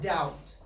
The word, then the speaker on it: doubt: How about doubt? You write it with the B, but you don't hear it.